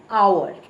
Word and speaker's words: hour: an hour. Now our begins with H. H O U R. But the H is silent.